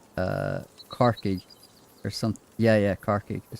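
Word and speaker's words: Corcaigh: Irish, Cork is Carkig. Tommy and Coney e Carkig. Oh, yeah, Carkig. I didn't think it was spelled like that.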